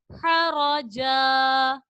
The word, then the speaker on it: حرجا: ہا زبر ہا، را زبر را، مل کر کیا بنا؟ حرا. جیم دو زبر جن، حرجن. آگے وقف حرجا حرجا.